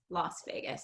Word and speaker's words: Las Vegas: So it's not how it's spelled. So it should be Oh, pronounced based oh, on the spelling last, like I, you said, but it tends to be Las Vegas, Las Vegas.